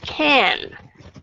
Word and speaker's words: can: Thì nếu mà trước tới bây giờ các bạn đọc là can thì các bạn hãy cố gắng sửa lại cái aspiration của letter K khi đứng đầu. Đấy, còn trước giờ các bạn đọc là A thì các bạn hãy cố gắng đọc là âm A, có nghĩa là can.